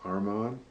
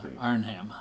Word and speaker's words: Arnhem: Armand? Now you say it, I can't say it right. Arhman. Yeah, Arnhem. Arnhem. Put the hard R in the front.